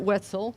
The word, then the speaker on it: Wetzel: Laura Reiser Wetzel, rhymes with pretzel, boom, is a professor of Marine Science and Geosciences, and she teaches at Eckerd College.